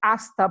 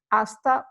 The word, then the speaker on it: hasta: soon you would say hasta pronto as you can see you know we don't pronounce the H hasta pronto hasta luego that